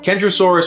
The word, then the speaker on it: Kentrosaurus: pronounced differently as well kendrosaurus with a hard k and centrosaurus with a